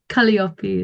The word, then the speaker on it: Kaliopi: No, Kali is indeed my name. But then Kaliopi is just how you pronounce that one.